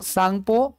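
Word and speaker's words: Tsangpo: सांगपो में T silent रहता है। ठीक है? तो इसको कहते हैं इंडियन या इंडो सांगपो।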